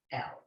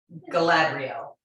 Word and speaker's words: Galadriel: It is Galadriel. It is pronounced phonetically. Whoa. It's not that hard. Your eyes don't have to glaze over. It's Galadriel.